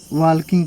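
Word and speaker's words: walking: went अगला है वकिंग बहुत से लोग इसको वाकिंग पढ़ते हैं लेकिन एक्चुअल में क्या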